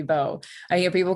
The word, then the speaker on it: Vo: my name is i i hear people say sandy boo sometimes and i say no it's beau i hear people call